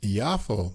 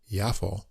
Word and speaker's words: Yafo: bit different it's called yafo Blossom that's J AA but I guess it's pronounced yafo and this is on